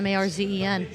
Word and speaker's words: Märzen: It's just MAR. M-A-R. Oh, shit. Yeah, Marzen.